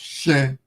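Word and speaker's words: ṣe: mm, You mm, know, they write it as se, which is se, but it's pronounced shen, she.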